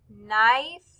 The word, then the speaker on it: knife: have circled the words knife and knit. Knife, knit. Both of these words begin with the K, N, but since the K is silent, we just hear the N.